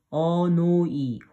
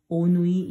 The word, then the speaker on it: 오누이: This is 오누이. 어누이. 오누이 is correct.